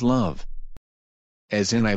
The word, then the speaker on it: ♥: When the heart symbol is used at this time, it is traditionally pronounced as love. As in I love New York for I love NY.